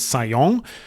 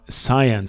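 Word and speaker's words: Zajonc: your psychology or not, whether you pronounce this person as Sayong, which is wrong, or science.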